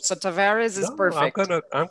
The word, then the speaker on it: Tavares: yes well if you pronounce it in portuguese it's tavares but that's difficult so tavares is perfect i'm gonna